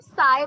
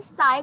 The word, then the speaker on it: psi: इसे हम साई बोलते हैं, ठीक है, प्रोनाउंस हम इसे साई करते हैं, P is silent, it's actually a pressure unit.